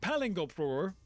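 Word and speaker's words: Palingoproer: It's pronounced Palingopur, and it's ridiculous.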